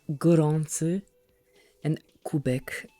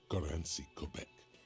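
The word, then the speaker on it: Gorączka Kubek: Actually, it's pronounced Goranci and Kubek, because this is Polish. Okay, it's definitely not his name. Whatever you do, please don't call him Goranci Kubek.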